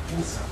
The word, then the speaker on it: Cusa: Nicholas of Cusa, C-U-S-A, Cusa. It's pronounced Cusa.